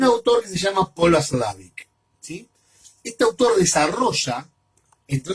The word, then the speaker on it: Watzlawick: Watzlawick sería, ¿sí? Se pronuncia Watzlawick.